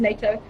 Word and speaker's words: natto: Sauerkraut, all fermented foods, sauerkraut, kimchi, natto or natto, I believe it's pronounced natto, cheese, egg yolk, they all have K2 in.